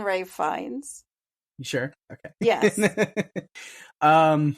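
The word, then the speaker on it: Ralph Fiennes: finds is perfectly creepy Ralph fianus I'll call him that no it's my turn to have a bad pronunciation it's right fines it's always been Ray fines you sure okay yes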